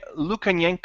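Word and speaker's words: Lukyanenko: is a book series the rob could you pronounce the author's name for me absolutely keith its Sergei Luke and yank oh thank you I couldn't have said that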